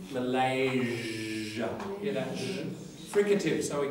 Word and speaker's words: Malaysia: What has it got to do with Malaysia, the Z thing? Malaysia. Yeah. Because it's got a Z in it.